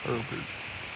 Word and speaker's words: Herbert: One of the detectives, and then we get introduced to a him named Herbert. Kind of rhymes with pervert, pervert, which is kind of interesting.